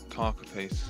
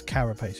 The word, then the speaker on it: carapace: Carcapace, isn't it? The corpse, basically. Yeah, but it's spelled differently. I know. It's carapace, yeah.